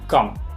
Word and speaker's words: quand: Otro ejemplo muy parecido sería quand, con una D, lo mismo. No me pronuncien esas consonantes, ¿sí? Quand, no es quand. Quand.